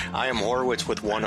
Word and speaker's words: Horwitz: I am Horowitz with one O. Yeah, but you just pronounced it Horowitz. You added the O in the pronunciation. No, I never do. It's always Horowitz.